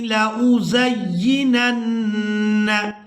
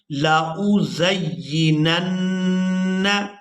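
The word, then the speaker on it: لَأُزَيِّنَنَّ: ہجے بھی کریں گے۔ لام زبر لا، حمزہ پیش او، لا او، زا یا زبر زی یا زیر ی، زی، نون نون زبر نن، نون زبر ن، لا او زینن، لام زبر لا، ہا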